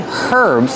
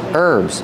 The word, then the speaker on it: herbs: These are called herbs remember with herbs the H is silent don't say herbs it's herbs these are herbs but